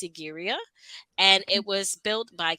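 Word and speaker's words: Sigiriya: of this place is and I may not pronounce this correctly but it's sigara and it was built by King casapa who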